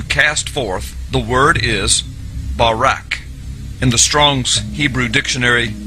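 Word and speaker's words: ברק: So lightning or a flash of light in Hebrew is pronounced barak or barak.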